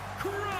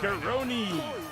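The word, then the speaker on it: Kronii: And representing the Authority from another time, Kron. Either you two breathe with all this superstar smugness. Learn how to pronunciate. It's Karoni.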